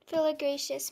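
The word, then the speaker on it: philydraceous: Filigracious, may I have the definition, please? Filigracious is the only pronunciation, and it means relating to a family of Asiatic and Australian perennial herbs.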